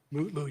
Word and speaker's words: Mutlu: Is it Metlu or Mutlu, or how do you pronounce his last name? Mutlu, Your Honor.